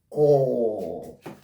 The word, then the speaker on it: corps: This word is completely silent at the tail consonant sounds. This is not there. The P is not there. We call this word core.